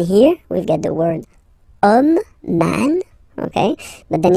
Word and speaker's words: homme: And then here we've got the word homme, man, okay? But then it starts with H, as in French, H is not pronounced, so the first sound that we hear is O, okay?